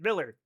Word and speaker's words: Mueller: We did have a prominent family here named the Muellers, who apparently pronounced it Miller, to not sound too German.